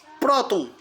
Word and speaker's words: próton: Próton. Sílaba forte, pro, é paroxítona, professor.